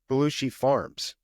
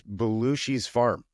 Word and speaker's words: Belushi's Farm: It's not Belushi Farms. I've been saying it wrong for a while now. And that is on me. And I apologize for saying that, but it's Belushi's farm.